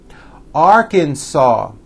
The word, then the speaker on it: Arkansas: me Alabama Alaska Arizona Arkansas the final s is silent California Colorado Connecticut Delaware